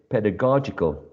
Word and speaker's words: pedagogical: the next one is pedagogical pedagogical as you can see there is a shift of the stress from the first syllable in pedagogy to the third syllable or syllable number three pedagogical um as a